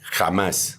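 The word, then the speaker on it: Hamas: español Ah sí eh pero la forma como se pronuncia en el diccionario bíblico esa palabra es kj a m a s jamás jamás jamás jamás jamás Así se pronuncia ese nombre según el diccionario bíblico eh strong en español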